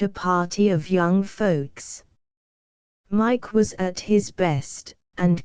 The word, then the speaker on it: Michael: store but insisted that the way to pronounce it was Mike not Michael I never knew such